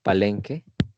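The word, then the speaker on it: palengke: We say palenque.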